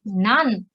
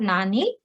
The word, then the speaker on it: 何: for now and what this time we are pronouncing it none okay not nani but none and time is g